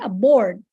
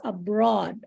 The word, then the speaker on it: abroad: of similar like that when you said abroad, you said aboard, and it has a different meaning when you say aboard. It's welcome aboard or something like that. So, and you mean like another country, so it's abroad.